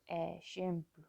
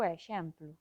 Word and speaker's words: exemplo: Pois eu digo exemplo. A pronuncia habitual é con E aberto e E pechado por influencia da nasal, exemplo, aínda que en determinadas zonas chegan a pronunciar esta palabra con dous Es abertos.